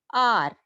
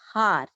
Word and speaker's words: hour: The pronunciation of this word is R, not har, not hour, R. Okay, H is silent here, students. Listen very carefully. R, H is silent here. That's why we are getting vowel sound.